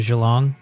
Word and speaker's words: Geelong: correct melbourne melbourne and i'm going to gee long oh you're going to have great time because i pronounced it and there was a australian scientist at the hamilton she said it's actually geelong you're going to see